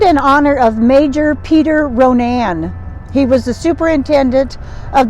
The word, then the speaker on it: Ronan: and yes it is actually the name is pronounced Ronan not Ronan Kim and I thought it was running when they first moved to Montana but it is pronounced Ronan it has about two thousand people here and